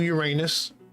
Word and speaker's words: Uranus: So let's see, Neptune to Uranus, Uranus to Neptune.